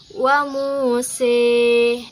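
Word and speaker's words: وموسى: pada lafaz wa Musa. Nah, karena ada imalah ia berubah menjadi wa Muse.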